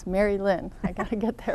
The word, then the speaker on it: Merilynne: And I said your name wrong. It's Merilynne.